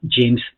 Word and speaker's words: James: a m e s la a se pronuncia como e la e no se pronuncia por eso se llama James y se pronuncia la